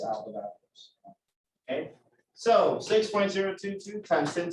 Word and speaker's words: Avogadro: A lot of people say avocado's number because it looks like it's spelled avocado, but it's Avogadro's.